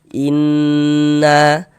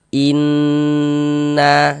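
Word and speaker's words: إِنَّ: Jadi di bagian innnya itu suaranya itu kita tahan sejenak ya sepanjang dua harakat. inna inna seperti itu.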